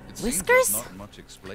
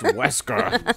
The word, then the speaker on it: Wesker: Whiskers? It's pronounced Wesker.